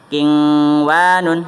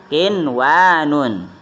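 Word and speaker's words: قِنْوَانٌ: Contohnya nun mati sama wa, bukan dibacanya kingwanun, bukan, tetapi dibacanya kinwanun, ya, yaitu dibacanya jelas.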